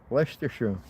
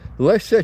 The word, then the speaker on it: Leicester: Um trying to hearing the foreigners trying to pronounce it. Lesser Chester Lester. Um always funny. Lester, England, not USA.